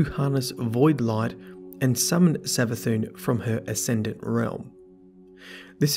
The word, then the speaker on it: Savathun: Well, there is quite a lot of evidence to suggest it's Savathun.